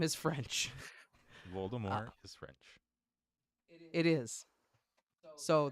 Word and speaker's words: Voldemort: pronounced that way it's it's a French name you don't pronounce the consonant at the end of the word it's Voldemort and she's like I